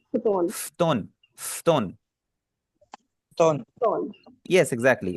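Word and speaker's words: 布団: जो ऊ है ना, ऊ को हमने यहाँ पे साइलेंट रखना है, इसको हम पढ़ेंगे फ्तोन। फ्तोन, कोशिश करें ऐसी आप Puton, आवाज निकालें, बीच वाला यू जो है ना, यू को आप पढ़ेंगे ना, इसे आप पढ़ें फ्तोन।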